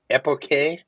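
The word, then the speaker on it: epoché: I always want to pronounce it epoch, but it isn't.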